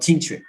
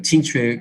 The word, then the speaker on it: Jingjue: So Tingtue could be pronounced as Tang Zot, and probably this is